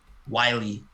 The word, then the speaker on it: Wiley: who that is but he's wallet or wiley wiley spell that w-i-l-e-y from atlanta like he was on